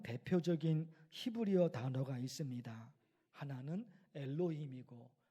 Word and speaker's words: 엘로힘: 내용으로 설교를 할 것입니다 화면을 통해서 여러분 보신 글자가 히브리어로 발음하면 엘로힘이라고 합니다 엘로이 가지고 있는 중요한